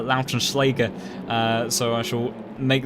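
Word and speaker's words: Lautenschläger: schleger uh excuse me i think after listening back to tetra dax uh our german speaking commentator i will trust his pronunciation on the german names i do believe that is uh lautrenschlager uh so i shall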